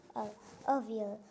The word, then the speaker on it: Avial: तो इस अवियल की प्रोनाउंसिएशन क्या है देखो, Avial.